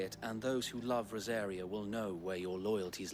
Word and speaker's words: Rosaria: All right, Port of Isolde, the Imperial Providence of Rosaria. You actually pronounced that correctly, I think.